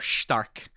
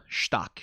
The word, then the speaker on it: Stark: Or Stark. It is supposed to be pronounced in German, after all. Stark, ja.